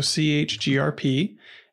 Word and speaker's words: chgrp: the change group so chgrep is how you spell that command and then you just